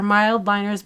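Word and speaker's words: Mildliner: using our mild liners I was saying it wrong earlier these are mild liners by zebra they're double-ended they're actually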